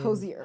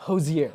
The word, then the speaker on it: Hozier: yard sale yeah okay the nuance of the pronunciation here you wrote this record on tour with josie yeah cozier josier who's your like cozier i i had to be coached okay yeah yeah yeah